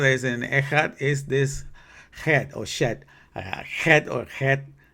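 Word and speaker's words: חית: pronounce, in Hebrew myself, because it has a gargle sound, like that. You have to do that thing in your throat, and I'm not used to that. But it says Het, that's Het, and this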